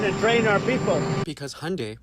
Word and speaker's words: Hyundai: Because Hyundai, pronounced like Sunday, not Hyundai like you're saying, is a Korean company.